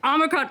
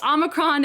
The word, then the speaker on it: omicron: a try hexy omegron omicron perfect so omicron is the the guardian actually explains that there are two answers and omicron strangely is apparently the american pronunciation although you were of